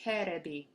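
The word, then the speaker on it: テレビ: These are katakana characters pronounced terebi.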